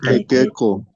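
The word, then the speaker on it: iqiqu: Entonces, los tres vocales, al momento de pronunciar, esto vamos a pronunciar E, esto E y este O. ¿Cómo vamos a pronunciar entonces? Equeque. Equeco. Equeco, ¿no ve? Equeco. Ese es el famoso equeco.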